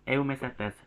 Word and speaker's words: Eumycetes: Jadi yang benar itu eumicetes, C-nya itu dibaca seperti S ya.